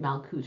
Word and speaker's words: Malkuth: Please forgive me for pronouncing it Malkuth from now on.